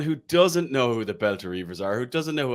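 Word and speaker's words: Belta Reivers: Am I pronouncing it right, first of all? The Beltin Bang on, Reivers. mate. The Beltin Reivers.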